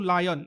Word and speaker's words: Lion: same series you have real lion or real Leon should be pronounced as Leon right for 4080 Yen